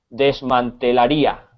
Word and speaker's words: desmantelaría: desmantelaría, con acento en la I. Desmantelaría. Ok, Sí, si te fijas en la I lleva una tilde y es donde recae la entonación, el acento de la palabra.